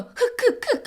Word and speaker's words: 흙: 여러분, 흑 하니까 뭐가 느껴져요? 이제 흐느낌이 연상되지. 그래서 흙의 발음에 착안해서요, 이 흐느낌, 눈물의 이미지랑 연결을 짓는다?